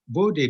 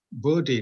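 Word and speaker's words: Bode: in fact is it is you're supposed to pronounce this as body diagram it is body diagram okay but since since everybody is is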